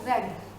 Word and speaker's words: read: जब हम read को थर्ड फॉर्म प्रोनाउंस यूज़ करते हैं तो हम इसकी प्रोनाउंसिएशन जो है वो क्या बन जाती है, रेड। Spelling will be same READ, बट इसकी प्रोनाउंसिएशन जो है वो चेंज हो जाएगी।